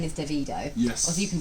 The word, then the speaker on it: Davido: artists yesterday a TV feature whose name is davido yes as you can pronounce it David Oh or dove you don't mind but I noticed